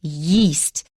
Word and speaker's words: yeast: second thing is yeast now many people do not know how to distinguish between yeast and east xiaomu some people have even said that no no no no they have different pronunciations xiaomi is yeast east east east east east that may take some practice but please pay attention to it don't ignore it eastern